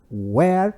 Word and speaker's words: where: Where were you? Onde você estava? Prestem atenção nessas duas palavrinhas aí. No pronome interrogativo eu digo where. Essa pronúncia é where. Mas o outro é were.